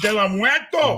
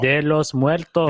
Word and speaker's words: de los Muertos: De la Muerto. De los Muertos.